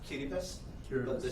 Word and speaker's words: Kiribati: It's pronounced Kiribati, but the Kiribati.